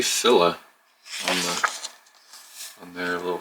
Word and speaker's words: Fila: pronouncing things very interesting they say philla i've always said feeling let me know in